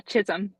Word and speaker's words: Chisholm: Yeah, Chisholm.